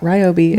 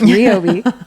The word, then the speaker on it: Ryobi: there in RI and that is how you say it it's not Ryobi it's RI I I work with them it is RI we learned the hard